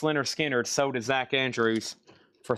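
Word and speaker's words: Lynyrd Skynyrd: And pronounced Leonard Skard sold to Zack Andrews for $35.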